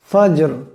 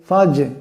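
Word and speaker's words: فجر: মাত এমন শব্দ হবে ফাজর ফা জিম জবর ফাজর রাজেরি ফাজেরি ফাজর জিম কলকলা হরফ এখানে আওয়াজটি অল্প ঝটকা দিয়া টক্কর দিয়া উচ্চারণ করতে হবে ফাজর এমন হবে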